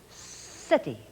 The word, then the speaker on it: city: the hard c but whenever the letter c comes before an e or before an i it will sound like s and we will call it the soft c so let's look scent